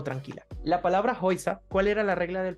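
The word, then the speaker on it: Häuser: muy característico que es la e con la u que se pronuncia como una oi entonces Claro si nosotros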